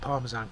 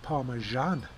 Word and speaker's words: Parmesan: She pronounced it Parmesan. I've never heard it called that before. So I had to Google it, and it is actually correct. It's pronounced Parmesan, not Parmesan.